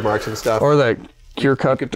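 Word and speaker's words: Cricut: Or that cure cut or circuit cut. Cry cut. Cricket. It's cricket. I always say it wrong.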